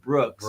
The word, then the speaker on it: BRX: minus angst yeah Brooks BRX you pronounce it Brooks I mean if you're